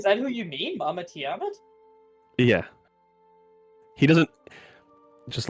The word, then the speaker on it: Tiamat: much, but can you tell me about Mama Tom yet later?" He doesn't know how to pronounce it right.